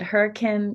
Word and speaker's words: Hurricane: We start at 4 o'clock on Thursday, and it's going to be in Hurricane is how you spell it, but Hurricane, Utah, really close to Zion, in between kind of St.